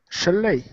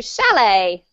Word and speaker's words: chalet: Chalet. Yes, thank you. Chalet. Thank You're you very French. Much, guys. What does it mean? What does it mean? Nicholas, can you explain it? The chalet?